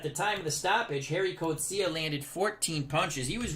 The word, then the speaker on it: Gerrie Coetzee: so harry kocia and when he came to america they changed it to jerry corcia but they used to pronounce it as the g was i guess like an h sound in dutch because i think afrikaners